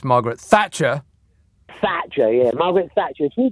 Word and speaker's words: Margaret Thatcher: Can I just correct you on your pronunciation? It's not Margaret Thatcher. It's Margaret Thatcher.